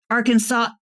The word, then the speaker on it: Arkansas: Arkansas River, in Kansas, it's the ArKANSAS River, ArKANSAS because they are not Arkansas.